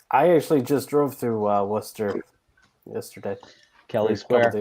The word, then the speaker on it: Worcester: Is look at Kelly Square in Worcester, Massachusetts. So Can you it's spell that?